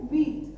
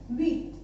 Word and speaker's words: huit: ठीक है, इसका जो प्रोनाउंसिएशन है 8 का वो है व्हीट. इसमें एच साइलेंट रहेगा, तो हम सिर्फ कितना पढ़ेंगे? व्हीट.